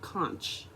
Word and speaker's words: conch: the queen conch shell it's spelled conch but it's actually pronounced conch which is k-o-n-k which is a sea